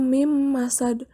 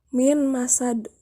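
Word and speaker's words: مِن مَّسَدٍ: Contohnya mim masad nun mati bertemu mim. Cara membacanya didengungkan. Suara nun mati dilebur masukkan ke dalam huruf sesudahnya, yaitu mim, sehingga dibacanya mim masad, bukan min masad.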